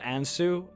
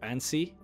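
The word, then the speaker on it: Ansei: that I know uh I pronounced it Anu uh but I'm pretty sure that you're supposed to pronounce it an or Ani uh the name of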